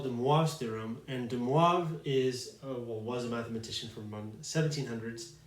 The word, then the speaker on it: de Moivre: was a French mathematician, so that's why his name is pronounced kind of funny. If you were to pronounce it de Moivre, apparently he would like that. As the story goes, he actually preferred the way non-French speakers would pronounce his name.